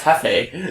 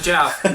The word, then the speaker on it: Jefe: There's another guy that his name is spelled Jefe. That's Hefe. Yeah, I know, but he pronounces it Jeff.